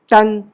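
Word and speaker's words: tongue: है वैसे रोग वेग टंग तो यू साइलेंट है कब जब जी के बाद आता है तो आप यू को साइलेंट रखें समझ में आई बात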